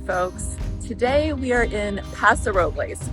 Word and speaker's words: Paso Robles: Today we are in Paso Robles, or as the locals say, Paso Robles, California.